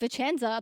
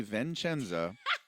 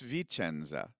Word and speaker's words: Vicenza: So people mispronounce that a lot. So if any of you out there say I'm going to say it wrong first, and it's going to hurt like me. I know how you're going to say it. It's going to hurt me so much. If you say Vincenza, ouch, it hurts.